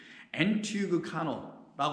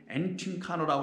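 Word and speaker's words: ἐντυγχάνω: 엔티그카노라고 하는데 엔팅카노라고 읽기도 하고 엔티그카노라고 하는데 엔자는 인이니까 강조 전치사일 뿐이니까 강조하는 것뿐이에요.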